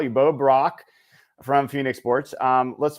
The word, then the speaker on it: Brack: So, one of the listeners we have who's from the Phoenix area, at least as a Cardinal fan, says it's your last name is pronounced Brock.